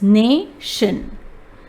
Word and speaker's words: nation: TION is also a final stable syllable having the sound of shin. When we see that, we break it there. Since there is no consonant after the vowel in A in the first syllable, we will read A as A. So it's nation.